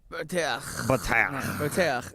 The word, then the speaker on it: Boteach: But now I'm going to see if I can pronounce the rabbi's name correctly. Shmuley, right? First name. You got that right. And Boteach. Boteach, yeah.